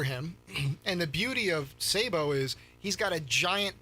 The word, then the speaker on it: Sabo: commonly used in firearm or Cannon ammunition still pronounced Sabo and oh is it it's still okay Sable